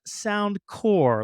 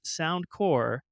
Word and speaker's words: SoundCorps: let's go ahead and get this right it's pronounced sound core like aeric core Marine core um Peace core sound C RPS sound core and not to just come out the gate